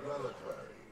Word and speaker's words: reliquary: The main reliquary, Abaddon's, is locked down. Only the reliquary of Melanthe. Reliquary, so that's how you say it. Like that when we arrived. Quarry. It's quarry.